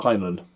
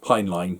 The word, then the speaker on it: Heinlein: for the Stars by Robert Heinlein, or Heinlein, depending on how you want to pronounce it.